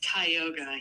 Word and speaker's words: Tioga: property on Tioga Street is that how you say it it's Tioga yeah hi yoga um I just was